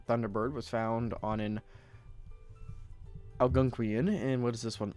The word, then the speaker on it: Algonquian: ALGO. NQUIAN. NQUI. There it is. Alright, how do you say this? According to Google. Algonquian. Algonquian. Good enough for me. Better than my guess.